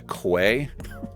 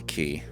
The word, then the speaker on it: quay: there also i think i've been pronouncing i've been calling this a quay because it's spelled q-u-a-y but i think it's a key do i feel like